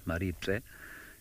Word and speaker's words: Maribye: see it written, because it's written Maribye, and that B-Y-E in Tsonga, unless somebody's told you this, you'd never know, but it's basically said B-Z-E, but the Z is very quiet, so it's Pse.